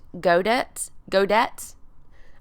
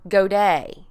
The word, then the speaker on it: Godet: They're going to do this pronunciation thing, and you can see here that Godet can be pronounced Godet, or Godet, okay?